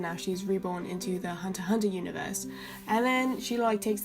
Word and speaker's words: Hunter x Hunter: Hunter x Hunter, like the X is silent, my bad.